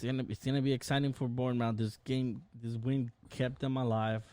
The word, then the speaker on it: Bournemouth: It's Bournemouth. But I always call them Bournemouth. I know, me too, just because that's how it's phonetically pronounced.